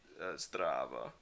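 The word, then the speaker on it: Zdravo: No, not Zaf. It's Strava. Is how you say it.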